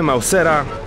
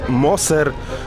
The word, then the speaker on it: Mauser: Mamy Mausera. Tak, pisaliście mi w komentarzu, że nie wymawia się Moser, tylko Mauser.